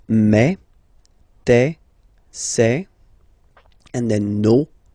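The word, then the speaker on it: mes: Okay, so for the phonetical or pronunciation aspect of it, then remember that this es here combined will give you the sound eh. Okay, so you'll pronounce it like me.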